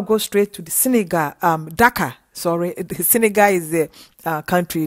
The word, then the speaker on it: Dakar: Now I'll go straight to the Senegal, Dakar. Sorry, Senegal is the country. Dakar is the capital. It's D-A-K-A-R, Dakar.